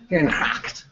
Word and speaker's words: Herengracht: Herengracht.